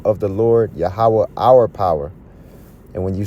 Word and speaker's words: Yahweh: There's no E's, V's in the Hebrew. That's why you got to go back to the Paleo Hebrew. So the correct pronunciation is Yahweh. Yahweh.